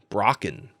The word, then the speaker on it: Brocken: pronounce this, broken specter, but it's not broken like, you break something. It's Brocken, Brocken specter.